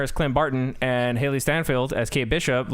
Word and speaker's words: Steinfeld: Steinfeld, yes.